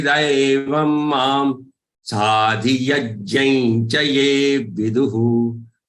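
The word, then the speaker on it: विदुः: V and du, both of them are short one. Viduhu. And the visarg has to pronounce, you see, vidu, because the visarg is on a letter which has a vowel u. That's why that visarg pronunciation has to be hu. Don't say viduha. Viduhu.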